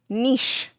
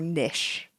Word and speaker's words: niche: in fact named Niche did you guys say Niche or Niche or Nish according to I looked it up once and according to I think it was the Oxford English Dictionary both pronunciations were correct but what is the